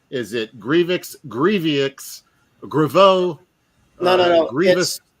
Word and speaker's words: Grievous: Grievous. It's Grievous. I thought it was Grievous, but he pronounced it in his own little video that I watched, Grievous.